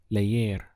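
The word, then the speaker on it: leer: to read is so we have ley air layer how would you say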